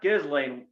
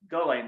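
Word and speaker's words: Ghislaine: mad that her accomplice has a silent s in her name you know like it's not it's not gizzling max well it's go lane max well i've always i'm only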